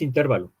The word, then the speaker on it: intervalo: Porque si nosotros pronunciamos intervalo, estaríamos diciendo que es una palabra esdrújula y creo que entonces debería de ir acentuada, pero no, no lleva acento. ¿Por qué? Porque la sílaba tónica es va, ¿sí?